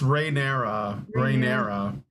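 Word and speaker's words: Rhaenyra: her former Friend R it's Raya rera yeah okay you you look at that how it's spelled there's no T though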